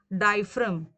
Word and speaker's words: diaphragm: you heard it right how to pronounce this this is diaphragm okay many time students